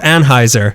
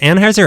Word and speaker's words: Anheuser: Is it Anheuser or Anheuser? I've always heard, like in commercials, Anheuser. Anheuser. What's up? No, it's Anheuser.